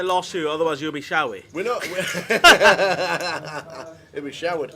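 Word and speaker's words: Shawee: And you pronounce his surname Shawi. Shawi. As in S-H-A-W-E-E. H-A-W-E. Shawi. Shawi. Shawi.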